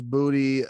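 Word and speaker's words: Boutte: booty louisiana hanville high school well yeah it's booty uh louisiana because that place sucks ass i'm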